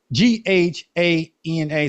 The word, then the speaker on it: Ghana: Independence Day celebrate and I hope I pronounced that right I know it's it's the g a g ha n a so if you're African please don't be mad at me because I know it's Ghana and then it's gyana